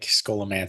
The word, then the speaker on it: Scholomance: everything that I saw everything that I saw was like skola man but then again there